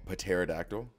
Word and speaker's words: pterodactyl: Did you have to spell pterodactyl? I didn't, but I'd know that a P goes because it's a silent P.